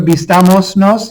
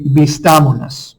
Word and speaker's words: vistámonos: So instead of vistamos nos, you wouldn't say it like that. It'd be vistámonos.